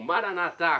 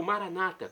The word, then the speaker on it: Maranatá: E agora do aramaico eu clamo, Maranatá, como dizemos nós católicos, ou Maranata, como dizem nossos irmãos separados, os evangélicos ou protestantes. Não importa a pronúncia, o significado é o mesmo.